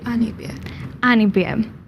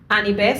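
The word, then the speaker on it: Anibare: of the symbol one more time for me Annie be an bear Annie bear spell it for me a n i b a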